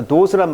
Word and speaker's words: dose: 자, dose란 말은 투여량이라는 뜻입니다. dose, 투여량. 오우 발음입니다. 오우 발음.